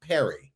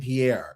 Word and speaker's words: Pierre: Sometimes people pronounce my name Perry and I don't that part boggles me. Yeah. I'm like, we have a state capital named Pierre and you are still messing up with that.